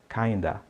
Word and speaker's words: kind of: E a pronúncia de kind of é kinda, ok?